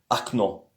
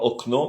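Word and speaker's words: окно: Au fait, s'il y a l'accent sur le O, ça se prononce comme le O. Si l'accent n'est pas sur le O, donc c'est prononcé comme un A. Par exemple, acno, sur le premier O, il n'y a pas d'accent. mais sur le deuxième, il y a l'accent. Alors, on dit pas okno, mais on dit akno.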